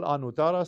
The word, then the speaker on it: Anuttara: For example, Anuttara starts with a simple A, But Ananda starts with a long A that corresponds to the second.